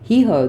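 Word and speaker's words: Tomás Hijo: This deck, created under the supervision of the master filmmaker and designed and illustrated by Thomas Haijo, that's how you say it. Haijo.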